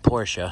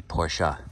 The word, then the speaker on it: Porsche: said there's the white Porsche I guess I'm saying it wrong I'm supposed to say Porsche all right well I